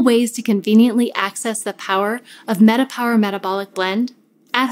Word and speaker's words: PWR: Power, spelled P-W-R, can mean power, as it's pronounced, while also meaning personal wellness realized.